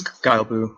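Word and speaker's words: Guillebeau: I can't pronounce his last name, Chris G something. And yeah, I believe it's Guile Boo. Yeah, Guile Boo, and he's making his project to hit every country in the world, right?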